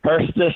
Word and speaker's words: Hirstis: Last name is pronounced Hurstis. It's spelled Hirstis.